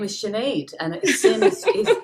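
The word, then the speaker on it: Sinéad: so my name is sinead and it seems it's literally s-i-n that's how you spell sinead right exactly people always think it must be s-h-i-n but with the irish language it's pronounced shinaid and there's actually a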